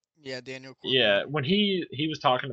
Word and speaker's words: Daniel Cormier: Yeah, Daniel Cormier.